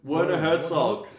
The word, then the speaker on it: Werner Herzog: Yeah, Werner Herzog, but I think he pronounced the W as a V.